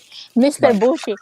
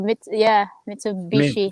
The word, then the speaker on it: Mitsubishi: he's a TikToker, but he pronounced a name of the cars very funny. So he'll say like Mr. Bushi. Mitsubishi. Instead of Mitsubishi.